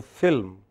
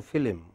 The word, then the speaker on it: film: Say for example, you know, many of my friends here don't go to film, they go to film. They add an I between L and M.